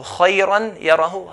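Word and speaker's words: خيرا يره: If I say khayran yara, I'm not pronouncing the ghunna sound. The ghunna sound has to come with the sound of the mouth, with the sound of the letter.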